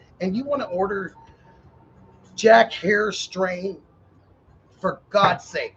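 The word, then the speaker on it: Jack Herer: If you go in the dispensary, you guys, and you want to order Jack Hare strain, for God's sake, say Jack Hare.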